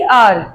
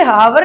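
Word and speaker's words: hour: ऐसे ही आर, इसे हावर नहीं पढ़ते, आर घंटा, आर ओ से।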